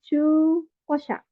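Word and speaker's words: 中古車: Terus ada chu, ya ini cara baca panjang pakai u, jadi chu kosha.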